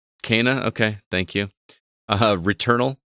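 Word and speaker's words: Kena: available as well we got another look at kinah bridges spirits which releases on the 24th of august now that is pronounced kana kana okay thank you uh returnal releases on april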